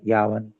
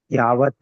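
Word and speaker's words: यावत्: न पते अनुमृत्यु यावन आई am sorry last word you should pronounce cess Yadav okay that is the root word if आई am correct थोड़ा नीचे देखो या word क्या है यावन यावत है यावत विल बिकम यावत यस यावत इज करेक्ट है प्रभु जी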